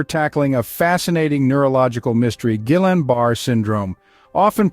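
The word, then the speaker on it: Guillain-Barré: Series today we're tackling a fascinating neurological mystery Gillan barar syndrome often pronounced as G Yan B syndrome this is a rare autoimmune disorder that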